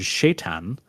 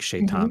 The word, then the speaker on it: Shaitan: I've heard Shaitan, which is how it's spelled and pronounced in like more more like Middle Eastern languages. I think Shaitan Mhm. is the name in the Quran.